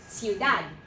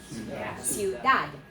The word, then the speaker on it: ciudad: Okay, so in this word right here, it is C-I-U, and because of the I, it's going to be a soft C, and it's the U with an S sound in front of it. So what is the first syllable? Siu. And then what? Dad. 2 syllables only, not 3. Ready?